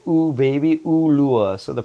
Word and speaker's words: Ulua: And to pronounce it, it's I always tell people it's like baby, Ulua. So the pronunciation of the vowels in Hawaiian culture, once